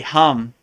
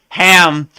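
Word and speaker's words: हं: laugh when I see I hear people say ham cuz they don't cuz people who've been really initiated by a a guru or like a par andar lineage they kind of know like it's almost like uh I remember when I first got initiated I said the same thing ham and they all started laughing like it's hum not ham so I always laugh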